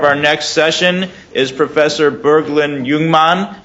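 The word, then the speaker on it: Burglind Jungmann: next session is Professor Bergland Youngman I probably mispronounced it even though I've been practicing from from UCLA thank you very much your pronunciation was perfect how do I move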